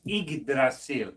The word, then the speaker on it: Yggdrasil: It's Yggdrasil, as in Ig, and you'll see in a lot of cases Ig refers to Odin too when they talk about mighty Ig or whatever. But Yggdrasil, and I'm not the